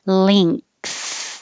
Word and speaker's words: length: Length. Then you have to stick your tongue further out for the th. Length. Or you can skip the ng sound and say length.